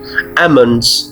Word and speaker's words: almonds: बादाम, almonds, almonds. L silent है इसमें, almonds, almonds.